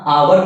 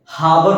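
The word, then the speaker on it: hour: है ना लेकिन यहां आवर में है आवर में एच क्या है साइलेंट है हावर नहीं पढ़ रहे हैं आवर एच साइलेंट है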